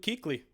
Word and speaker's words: Kuechly: You sure did, in Luke Kuechly.